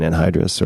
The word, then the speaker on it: anhydrous: Just like caffeine anhydrous, or I'm not sure if I'm pronouncing that correctly.